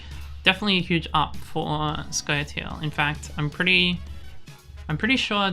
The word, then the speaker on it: Scoia'tael: It's pronounced squirrels. So Scoia'tael.